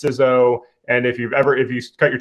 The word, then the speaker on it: CISO: The I in information is short, so it should be CISO instead of CISO. I'm pretty convinced if you cut your teeth in federal government land, it's CISO, and if you cut